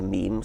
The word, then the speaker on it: meme: Um so I called it a meme. It doesn't exactly rhyme with gene, but it's s sort of sort of short and and sounds vaguely similar.